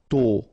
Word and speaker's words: tôt: Tôt, okay, final D not pronounced, and then this O accent circonflexe is a bit stronger than normally, so tôt, tôt, tôt.